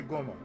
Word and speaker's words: Goemon: Can't say Goemon, just say Goemon. Like, pretend the E's not there.